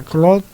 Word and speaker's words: Claude: Estoy hablando de una persona que tiene un nombre francés que se pronuncia Claude, pero que claro, suena muy raro en español, significa Claudio.